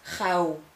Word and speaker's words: gauw: There's another one, AU, pronounce it exactly the same as ow, for example, as in now. An example is gauw, which means quickly.